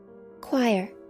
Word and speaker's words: choir: I can't say this word. Choir. Choir? I would never guess that's how you pronounce it.